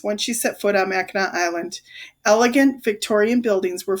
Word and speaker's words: Mackinac: is that how you spell the islands name it's spelled ma ckin AC but you've been saying Mackinac well Nicole began we learned on the field